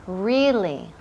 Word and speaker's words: really: Really. Really. Y énfasis en la primera sílaba.